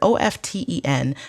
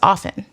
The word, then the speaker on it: often: is that the word o f t e n the t is silent the word is often like that's the proper